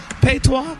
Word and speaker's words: patois: Patois? P-A-T-O-I-S? You said it right. Patois.